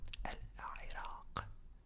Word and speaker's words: العراق: And yeah, Iraq. So the ending of this also has the qa, the qa, the qa, qa, qa.